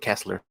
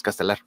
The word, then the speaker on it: Castellar: Oh, I mispronounced your name. I said Kessler. It's Castellar.